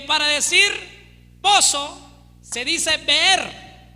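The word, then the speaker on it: באר: le dije que para decir pozo se dice ver b e r ver para decir cisterna se dice bor b o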